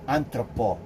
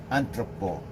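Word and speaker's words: entrepôt: Singapore entrepreneur that acted activity is known as anthropo spell it e n from from French e-n-t-r-e e n t r e p o t anthropo what is anthropo Import and Export so that's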